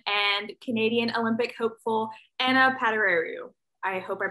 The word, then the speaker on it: Padurariu: future ucla bruin and canadian olympic hopeful anna padaro i hope i pronounced that right now that was pretty good